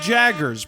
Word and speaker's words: Jaggers: Hey, I'm Jaggers, pronounced like Mick Jagger.